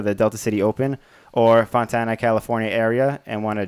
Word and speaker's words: Fontana: Is it pronounced Fontana? Am I saying that right? Yeah. Fontana.